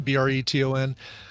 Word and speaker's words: Breton: Am I pronouncing that right? Zoe, is it Breton? Breton.